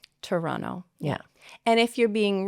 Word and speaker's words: Toronto: I would say Toronto. Toronto. Yeah. And if you're being really casual, you'll say Trana.